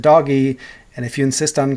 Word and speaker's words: DOGE: of Government Efficiency, and I refuse to pronounce it DOGE, the G is a G sound, so I'll pronounce it doggy.